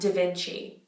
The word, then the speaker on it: da Vinci: have the seat down it's not duh it's da da Vinci da Vinci Leonardo da Vinci so it's the same